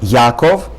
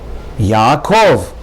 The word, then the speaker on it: Yaakov: Next word, Yaakov, not Yaakov, Yaakov. Again, in English you would say Jacob with the accent on the first syllable. In Hebrew, the proper pronunciation is not Yaakov, but rather Yaakov.